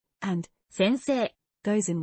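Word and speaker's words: 先生: In writing, it seems to pronounce as せんせいせんせい but some sounds link together. せんせい The pronunciation is like 先生先生 Here are some examples of occupations.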